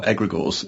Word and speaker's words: egregores: So tell us where your research on non-human intelligence has led and what are egregores. Am I pronouncing that correctly? You are, egregores and egregorial.